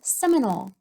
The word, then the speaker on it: Seminole: Sem, in, ol. Do you hear the long O?